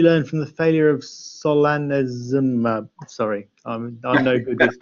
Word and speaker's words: solanezumab: What did you learn from the failure of solanezumab? Sorry, I'm no good with drug names. Solanezumab. There you go. Solanezumab. Yeah, solanezumab was, for those of you that aren't aware